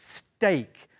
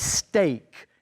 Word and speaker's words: steak: word steak that's right if you let this steak but be very careful with the pronunciation steak not s steak steak yeah so this is a steak knife